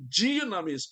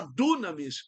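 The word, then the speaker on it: δύναμις: Jesus havia prometido que seus seguidores receberiam dinamis. Muita gente fala dunamis, mas é dinamis.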